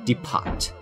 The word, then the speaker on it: depot: Glitter Gulch mines fuel depot teapot Department Depot I guess depots this correct way of saying it the tea is silent depart there you go this